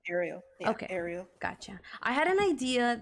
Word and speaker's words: Ariel: It's Ariel. Yeah? Pronounce Ariel. Yeah, okay. Ariel.